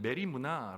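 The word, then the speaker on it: μέριμνα: 결핍에서 나오게 되는 것이거든요 염려를 헬라어로 발음하면 메리 문화 라고 발음합니다 그런데 원문에 뜻은 뭐냐면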